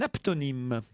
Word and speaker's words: aptonyme: Savez-vous ce que c'est qu'un aptonyme? C'est un nom qu'on prononce mais qu'en apnée.